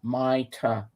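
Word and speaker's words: Mayte: page oh Micah's okay it's spelled m-a-y-t-e my ta you pronounce it like that got it and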